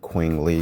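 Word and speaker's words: Qing Li: I'm going to learn how to pronounce it. Queen Lee. It's with the Q U I N G uh L I and that's uh on forest bathing.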